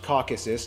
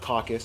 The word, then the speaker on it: Caucasus: eurasia by the way it's pronounced caucasus not caucus a caucus is when